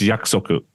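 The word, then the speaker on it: 約束: And also on a side note, I'm pretty sure the way you pronounce yakusoku, it's yakusoku, like promise, prearranged.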